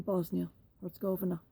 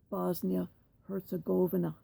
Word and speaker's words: Bosnia-Herzegovina: This was Srebrenica in Bosnia-Herzegovina. Please note, I do not pronounce it in the Serbian way, which is Bosnia-Herzegovina. I pronounce it as the Muslims do.